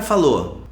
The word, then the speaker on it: falou: Aí o cara falou. We're going to pronounce falou without the O sound. Falou.